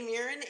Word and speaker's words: Muirenn: I'm lady mirin and Yan Falone clear hi yes hi hi everybody yes it's an Irish name it's not spelled the way it's pronounced of course as I